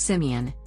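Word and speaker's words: Simien: now a partner in simmon land tours pronounced simeon with my ethiopian brother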